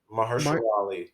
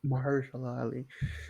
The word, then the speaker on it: Mahershala: Yeah, like How if do you you pronounce the name? Mar- Mahershala Ali. Mahershala Ali.